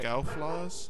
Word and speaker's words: Scouflaws: How is it spelled? S C O U F L A W S. F A L WS. F L A WS. Yeah, you're pronouncing it right. Scowl flaws.